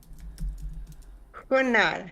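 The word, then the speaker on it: Hoonah: Oh, huna. Huna. That's how they say it in Tlingit.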